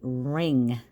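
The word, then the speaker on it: wring: we're looking at it if we cover up the W that's ringing like you wear a ring on your finger or the phone will ring if you put a W in front of it it now means you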